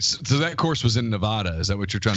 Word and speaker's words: Nevada: I was wondering if you meant Nevada, the actual city in Missouri. We don't pronounce things very well here. So there is a town called Nevada.